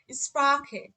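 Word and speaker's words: Sprache: এখানে দেখেন আ, উ এবং ও এই তিনটার পরে যখন সে হা থাকবে তখন তার উচ্চারণ হবে খ এর মতো, যেমন এখানে দেখেন হুম।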